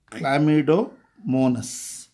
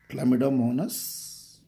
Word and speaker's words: Chlamydomonas: Chlamydomonas. That is the way you have to pronounce. Chlamydomonas.